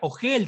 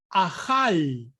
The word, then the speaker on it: ajal: Entonces, aquí comida, ogel, no se pronuncia comida, no se pronuncia ogel, sino se pronuncia ajal.